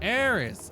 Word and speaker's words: Aerys: Okay, back to looking properly Pronounced like air aris aerys. Aerys.